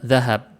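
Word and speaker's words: ذهب: baca ini harusnya sama seperti kata zahab itu zahab ya orang Indonesia banyak bilangnya zihab ini salah kalau bilang zihab yang benar zahab begitu juga di sini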